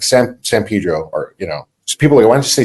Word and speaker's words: San Pedro: When in the city we grew up in, like San Pedro, or, you know, so people are like, why don't you say San Pedro?